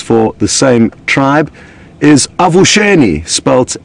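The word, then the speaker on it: avuxeni: the same tribe is avulsion e-sports a V you x e and I so the exes are pronounced as Shh so of shin means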